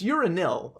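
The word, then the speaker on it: uranyl: for that i was gonna ask uh yeah it's spelt u r a n y l okay so it's not urinal it's uranil or yeah it's you gotta you gotta say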